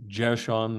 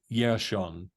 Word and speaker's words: Jershon: The root that we would pronounce, well, we pronounce it with a J, but they would pronounce it with a Y. I mean, there is no J in Hebrew.